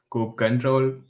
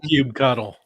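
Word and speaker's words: kubectl: yes covering cli uh also called coke control uh i don't know some people pronounce it differently i prefer cube color and docker cli and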